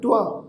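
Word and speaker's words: ਤ੍ਵ: मधुभार छंद त्व प्रसाद, ये शब्द है जी त्व, इनू तव नहीं उच्चारण करना।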